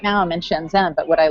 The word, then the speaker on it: Shenzhen: So whether it's California and then traveling, or whether it's Shenzhen, which is how they actually pronounced it, not Shenzhen like my name, I like a basis for home, for traveling.